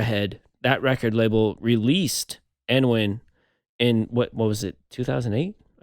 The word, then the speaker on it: Annwn: But also, I mean, Hydra Head, that record label released Annwn in what was it, 2008, I think, which is really interesting to me.